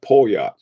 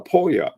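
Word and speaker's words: Poljot: Polyot. Oh, hey, that's a cool way to pronounce it.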